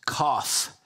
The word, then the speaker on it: Kaph: a p um but it's pronounced cough sounds just like what you do when you're sick you know cough you're